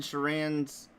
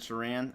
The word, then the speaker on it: Sheeran: Well, see, I don't know how to pronounce Ed Sheeran's name. I guess it's Ed Sheeran.